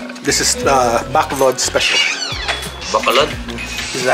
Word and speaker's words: Bacolod: Bacolod? Is that how you say it? Bacolod. Yeah. Bacolod. Bacolod. I'm almost done with mine. It's Bacolod.